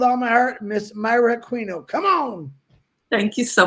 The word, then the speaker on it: Aquino: It's not Aquino, it's Myra Aquino.